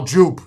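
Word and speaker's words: JOOP!: pretty damn close no Joop Joop you is it's cheap you get that at CVS for 15 bucks wait it's pronounced you all these years because it's French the J is silent it's you everybody calls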